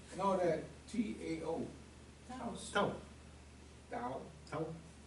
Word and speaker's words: Tao: Tao. If you pronounce the T as a D, then Tao.